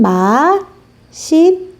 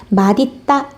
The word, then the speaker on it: 맛있다: 자, 맛있다 발음 어떻게 사용하냐면 맛있다. 그런데 사전을 찾아보면요. 이렇게 발음하는 것도 맞고요. 맛있다. 이렇게 발음하는 것도 맞습니다. 좀 어색하죠? 맛있다 할 때 시옷이 그대로 올라가는 경우도 있고요.